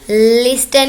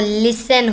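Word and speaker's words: listen: Silent letters अल्फाज लिस्टन नहीं होता दोस्तों, लिसन होता है, मानी सुनना।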